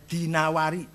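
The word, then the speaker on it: دينور: Jangan Ad-Dainuri bacanya, Dinawari. Jangan Ad-Dainuri, enggak ada kota Dainur, ada Dinawar.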